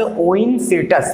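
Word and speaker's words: Oencyrtus: ओइनसिर्टस, spelling क्या हो जाएगी?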